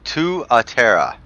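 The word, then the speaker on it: Tuatara: the last video, but it is pronounced Tuatera.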